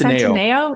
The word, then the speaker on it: Centineo: I'm mispronouncing his last name. Is it Centineo? I think it's Centineo.